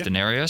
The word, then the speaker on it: D'Narius: name from the start I think I said Denarius it's Denarius yep Denarius Roman for currency